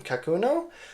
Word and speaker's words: Kakuno: this is clear but it's a pilot um kakuno I believe how you pronounce it um it is in uh ultra